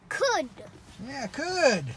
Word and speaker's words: could: And the L is silent in this one, so maybe you leave the L out. Could.